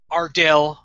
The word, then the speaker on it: Ardell: that I don't know I say it like to throw away so I will try to correct it I'm are Dale Smith our Dale is a